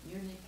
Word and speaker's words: eunuch: I've always heard eunuch and eunuch. What is the correct pronunciation?